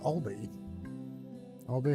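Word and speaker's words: albeit: lot albe D how do you pronounce itbe it allbe okay it's not albe it's all Obe halfheartedly okay cool this means do okay all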